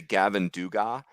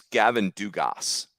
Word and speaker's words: Gavin Dugas: I'm hearing people say Gavin duga it's Gavin Dugas like you pronounce the S coach Neal got re